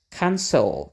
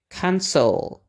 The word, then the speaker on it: cancel: benda tadi saya bilang berarti suku kata yang pertama Ya suku kata yang ada un-nya itu bakal diberi penekanan gitu berarti bacanya Oke kita pakai polanya dulu ya polanya itu Nana Kan sukata yang pertamanya distes ya Nana jadi bacanya cancel gitu canel oke one more timeel